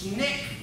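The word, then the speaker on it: SNCC: Student Nonviolent Coordinating Committee 1960 Gerald is that pronounced snick right they pronounced that snake and there were a number of different organizations that popped up dr.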